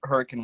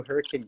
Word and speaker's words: Hurricane: Like, are you also unaware of the fact that there's also Hurricane Utah, which pronounces it the same way?